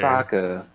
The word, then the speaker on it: Sokka: Sokka. My name's Sokka. It rhymes with Akka.